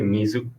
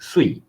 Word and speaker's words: 水: Okay, so the kunyomi for this kanji is actually Mizu. Okay, so I think for Mandarin speaker, you never see this type of pronunciation.